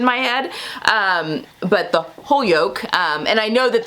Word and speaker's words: Holyoke: some new englanders that posted the correct pronunciation of this holyoke i believe is correct now it may not